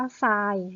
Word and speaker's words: ทราย: ควบ กับ เรา เรือ อ่าน ออก เสียง เป็น ซอโซ่ คำ นี้ อ่าน ว่า ทราย นะ คะ ทราย อะไร